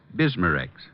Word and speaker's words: Bismarex: Bismarex. Is that how you say it? That's right, ma'am. B I S M A-N R E X. Bismarex.